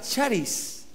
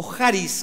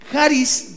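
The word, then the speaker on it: χάρις: que se escribe caris se pronuncia charis o jaris con j así se pronuncia jaris viene de la palabra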